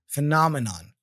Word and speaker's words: phenomenon: then we have phenomenon so the first e there is a sound again F fenon phenomenon all right so here is a short explanation the pronunciation of pH as F like phenomena you see F and the repetition of an correct emphasis is crucial to avoid confusion with other similar sounding words so phenomenon remember here